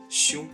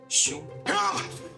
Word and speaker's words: 兄: That's because the right part of it is also a Chinese character, xiong, which means elder brother. Even today, in Korean, men still call their elder male friends hyung. It's from this, xiong.